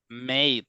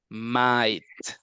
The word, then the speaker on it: might: to help might okay don't tell me mate that's not correct it's might okay might might might be